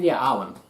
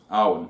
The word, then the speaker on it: Arwen: I should know how to say that because it's pronounced the same way as on Lord of the Rings. Well, Arwen. Arwen. Yeah, that's it. Arwen.